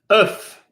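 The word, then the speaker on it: œuf: pronounce the C or for example the word for egg earth if we pronounce the F at the end but we do say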